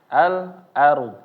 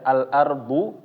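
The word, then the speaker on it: الأرض: ketika kita membaca alar Al ARD ya Al ardu ya AL ardu nah ini ketika kita membacanya maka rnya menjadi tebal bukan menjadi tipis Bukan al-ardu al-ardu tapi Al ARD ARD ya ARD nah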